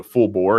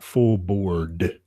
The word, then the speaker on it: full bore: pronouncing that term properly it is full bore not full board full board it's full full breakfast full bore means full speed ahead yeah I mean that's